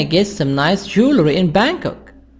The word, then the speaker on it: Bangkok: nice jewelry in bangkok bangkok g silent you shouldn't miss the weekend market is the best place for bargains 4. where can ability where can i get some nice jewelry in bangkok b advice you shouldn't